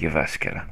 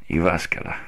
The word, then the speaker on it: Jyväskylä: this is the city we're in, and it's pronounced Jyväskylä. Jyväskylä.